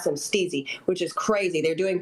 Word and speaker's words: Stiiizy: tnder trainings now and starting their Bud Tinder training by explaining it's pronounced stey which is a culture nod so stey Stone just like the Power Rangers I don't think Jason would remember that one yeah they told me uh they told me that they um it's pronounced either way but the the corporate guys like to call it uh steezy and others call it stizzy look at that's why